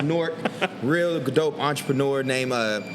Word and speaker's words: Newark: y'all can't see it right there it's actually pronounced Newark real dope entrepreneur named uh Gabe okay um